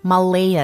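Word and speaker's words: Mleigh: Clare insists it's pronounced Malaya Saraphene, but she's adamant about keeping the creative spelling because normal names are boring and my daughter deserves to stand out.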